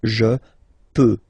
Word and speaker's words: peux: So je peux. Okay, final X not pronounced here. Okay, so you get X, but you don't pronounce it. So basically, you get the sound peut.